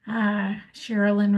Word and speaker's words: Sherilyn: Sherilyn rhymes with Marilyn, as I tell a lot of people.